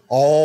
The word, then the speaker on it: Omkar: But then there was a sound traveling, Omkar. That is how it is said to pronounce it. So Omkar, technically, you cause the creation of the universe.